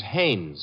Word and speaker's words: Haynes: No, not Hines. Haynes.